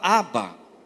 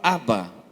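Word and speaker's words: אבא: No hebraico, ela é formada de 3 palavras, que é um Aleph, um Bet e outro Aleph. Esse Aleph é mudo, ele recebe um kamatz embaixo, que é uma vogal, que significa no aramaico paizinho.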